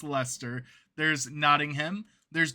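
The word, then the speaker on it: Leicester: exist today which include Lester. The Brits are going to appreciate the pronunciation of that. Not how you spell that. There's a lot of extra letters, but it's Lester.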